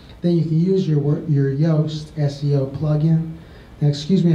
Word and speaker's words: Yoast: Yoast. He's a Dutch, you know, and it's really Joost. So but we know it's pronounced Yoast, and so he spelled it that way for us, you know, gringos, I guess.